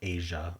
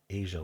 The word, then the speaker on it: A'ja: Um A'ja Wilson I pronounced Asia, okay. Asia Wilson.